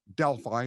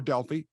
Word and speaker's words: Delphi: She lived in a remote town called Delphi, or Delphi, can be pronounced either way.